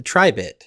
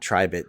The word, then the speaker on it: Tribit: I have been spending some time with the tribit uhhuh stormbox blast yeah now I'm resisting the urge to call it the tri bit yes because I subsequently found out from previous